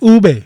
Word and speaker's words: ube: was it ube we're real people it is ube this is real life it is ube again